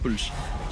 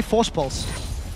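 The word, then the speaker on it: Voorspoels: For anyone that wants to know how to pronounce his surname, Force Pulse. Just say Force Pulse. Say it like you would say Kassadin with a bit of a lisp.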